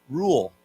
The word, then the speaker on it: rural: So R-U-R-A-L, rule, okay? It's a funny word. It's a little bit hard to pronounce, rule. It's almost like the word rule, like a 规定, but we pronounce it rule.